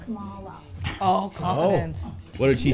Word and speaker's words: Kamala: My name is pronounced Kamala.